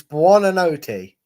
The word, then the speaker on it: Buonanotte: But look, I'll let you have a go at pronouncing that, Brad. Buonanotte. That's as good as you get it. It's Buonanotte.